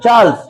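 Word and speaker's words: Charles: চার্লস না, চার্লস। উচ্চারণটা চার্লস, চার্লস Evans.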